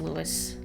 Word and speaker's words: Lewisville: summer had curling leaves lewisville texas is pronounced lewis louisville well now i know